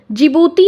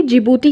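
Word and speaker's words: Djibouti: में रखना है कि जिबूती के देख देखिए स्पेलिंग भी होती है डी से स्टार्ट होती है जिबूती आचार संहिता का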